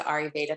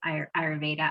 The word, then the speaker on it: Ayurveda: But I'd like to hear from you on what you're interested in when it comes to Ayurveda, because it's so dense and there's so much to it.